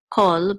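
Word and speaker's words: כֹּל: Here, this is pronounced chol, but it's the same exact word meaning.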